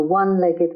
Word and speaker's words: one-legged: A one-legged man. The O is pronounced as wa.